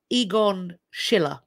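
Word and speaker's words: Egon Schiele: me the pronunciation for it's it's Egon Schiller is how it should have been pronounced so I apologize for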